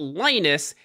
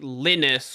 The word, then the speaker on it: Linus: is the most important Linus is correct and that's a perfectly fine pronunciation but lioness is also correct he understands that English speakers aren't used to a name like Linus or lenus so lioness